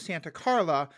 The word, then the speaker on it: Santa Carla: I also appreciate you pronouncing it properly as Santa Carla because the mayor of Santa Cruz didn't want his town depicted because Where it they is filmed it, yeah.